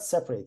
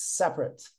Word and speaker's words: separate: or more things but when it is an adjective the pronunciation changes separate separate red rates as